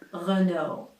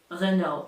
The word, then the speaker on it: Renault: Renault. Renault. L and T are silent. Renault. You will hear some Americans say Renault, but the majority of people say Renault and that's the right way.